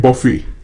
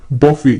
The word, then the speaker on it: buffet: Next word है हमारी list में बफे। बफे, यहां पर टी साइलेंट है, इसको कई लोग बफे और कई लोग बुफे भी बोलते हैं।